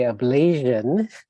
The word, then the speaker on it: ablation: So note the pronunciation is ablation. So some people say ablation, but it's ablation, like nation.